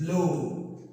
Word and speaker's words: blow: But in blow, it is pronounced as o.